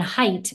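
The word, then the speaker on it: Haidt: hanging on and then more recently John John height it's it's spelled ha AI DT um he came out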